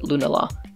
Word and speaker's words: Lunala: Is that how you pronounce it? Yes. And Lunala.